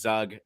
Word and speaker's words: Zug: And they very adamantly said, "It is Zug."